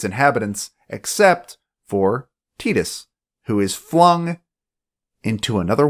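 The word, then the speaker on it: Tidus: lot more fun online Titus or Titus whichever way you say it I personally pronounce it Titus they never say it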